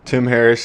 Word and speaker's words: Tim Harris: We got Tim Harris here.